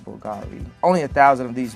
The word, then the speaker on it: Bulgari: glad you noticed that it's a bulgary yes that is a correct pronunciation that Bulgari only a thousand of